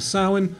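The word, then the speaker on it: Samhain: lent or Halloween and I checked the correct pronunciation for sin so I hope for any of my Irish viewers out there I got that correct the correct answer to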